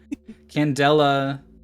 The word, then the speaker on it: candela: Candela... It's... Candela is how you say it.